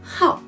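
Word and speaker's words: 好: Et ensuite, ce caractère peut aussi prononcer comme quatrième ton, hao, hao.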